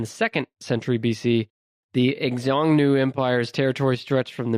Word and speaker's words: Xiongnu: It's Xiongnu. NU. Okay. The Jingu? It looks like I'm really bad at pronouncing things like this, so apologies to the listeners, but to me, it looks like Xiongnu Empire.